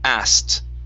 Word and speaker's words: asked: So in this word we're going to drop the K and we pronounce a T sound only. So it's asked.